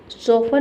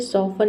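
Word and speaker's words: soften: सोफन means होता है नरम करना। ठीक है? सोफन इसमें भी देखिए टी एन आ गया।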